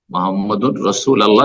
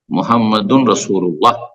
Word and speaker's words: মুহাম্মাদুন রাসূলুল্লাহ: মুহাম্মাদুর রাসূল আল্লাহ নাই, মুহাম্মাদুর রাসূল আল্লাহ যে পড়লেন এটা ভুল উচ্চারণ, মুহাম্মাদুন রাসূলুল্লাহ যদি শুদ্ধ পড়তে চান।